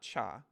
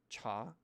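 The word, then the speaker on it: 茶: is mandarin for tea if you want to pronounce it right it's a rising tone it's not cha it's not cha it's not cha it's cha chagwan t-shot anyway so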